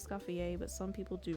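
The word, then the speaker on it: Escoffier: And I don't know about you, but I pronounce it escafier, but some people do pronounce it escafier.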